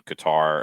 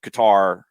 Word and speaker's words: Qatar: yeah it's sharif says it's a hard g sound in qatar according to the dialect of the natives formal formal arabic hard k sound and a slight stop between q a